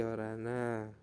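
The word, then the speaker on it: 열하나: seperti angka asli tadi Kalau 10 kan Yol Nah kalau satunya apa Hana menjadi yorana seperti itu ya Nah sama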